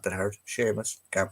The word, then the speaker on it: Seamus: Tig is another one they can't pronounce. Seamus, for some reason. It's not that hard. Seamus, can't pronounce that.